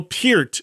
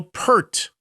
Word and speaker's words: Peart: Just like Neil Peart is Neil Peart, not Neil Pert. I asked the man himself how to say his last name when I interviewed him.